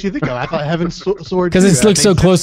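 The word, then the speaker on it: Heavensward: like Saturday I believe Saturday morning um so Heaven sword is the expansion coming out so hold on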